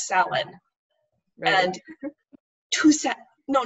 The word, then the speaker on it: Samhain: in particular um they had a demon called samhain and they pronounced it that way the entire episode i speak the irish language it takes two minutes to google it and find out that it's pronounced salon and two no not two minutes two seconds